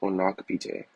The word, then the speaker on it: Onokpite: Um my last name is pronounced onak. So just uh like on knock and then p.